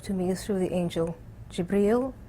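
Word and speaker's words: جبريل: me through the Angel jabriel that's how you say it in Arabic and Gabriel in English and and then exort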